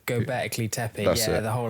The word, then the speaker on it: Göbekli Tepe: Because how is it pronounced? Göbekli Tepe. Göbekli Tepe, That's yeah, it.